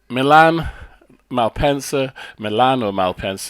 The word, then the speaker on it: Milano-Malpensa: So Milano-Malpensa to give its correct pronunciation.